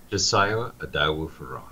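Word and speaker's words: Josiah Idowu-Fearon: is a province that Justice, how do you pronounce his name? Josiah Adawu-Ferong.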